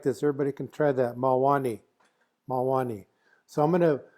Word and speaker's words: Mawáni: Mwani. It's got second syllable stress.